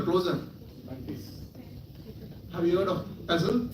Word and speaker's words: PESTLE: Have you heard of PESTLE? P-E-S-T-L-E? Pestle or PESTLE. T is silent, but it's PESTLE. Political, economic, social, technological, legal, environmental.